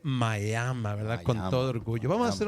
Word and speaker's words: Miami: no me educaron que no se dice en miami aunque así se escribe se dice maya con orgullo vamos a